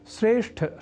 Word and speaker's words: श्रेष्ठ: क्रम में बताया है कि श्रेष्ठ शब्द का उच्चारण व लेखन हम में से कई श्रेष्ठ इस अशुद्ध रूप में कर जाते हैं। वस्तुतः यहां अर्थात श्रेष्ठ शब्द में ठ इस महाप्राण अक्षर का उच्चारण व लेखन लोग ट इस अल्पप्राण स्वरूप वाले अक्षर से परिवर्तित कर दिया करते हैं।